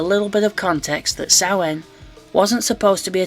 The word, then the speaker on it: Samhain: On October 28th, NWA presented a pay-per-view spelled Samhain but pronounced Samhain, because leave it to Billy Corgan to run an event where even the name is awkward.